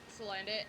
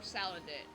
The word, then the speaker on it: Salandit: Or Salandit. That probably makes more sense for pronunciation, because, like, salamander.